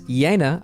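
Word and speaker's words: Jena: In case you missed my video about this lens, the Carl Zeiss Yana, I pronounced it right this time.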